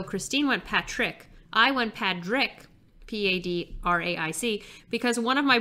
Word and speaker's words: Padraic: but we have a Patrick Pearse. My entire childhood, people thought that we were mispronouncing my brother's name, and it was really Patrick. And no, it is Padrick.